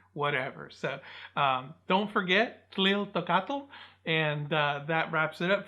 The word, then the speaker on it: Tliltocatl: So don't forget Tliltocatl.